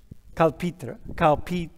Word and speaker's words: Calpita: Calpita. You don't say the H, right? Calpita. Yeah. Exactly. I'm letting her know how to pronounce her name. So you don't say the H, Calpita.